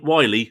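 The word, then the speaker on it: Wiley: uh Emma Mack is mave Wy not Willie as it's mispronounced once in the show Marie if you want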